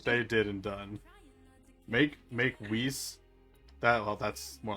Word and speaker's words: Whis: Honestly, I would love to see, abridged, Beerus and Whis.